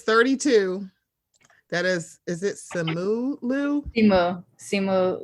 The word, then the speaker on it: Liu: He grew up in Canada, so I think he has a slightly different pronunciation. Yeah, I don't know what that's about.